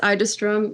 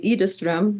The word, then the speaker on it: Idestrom: Idestrom? Well, my dad says Idestrom. My brothers say Idestrom. In Sweden, it's Idestrom, but in Canada, more people find it easier to say Idestrom.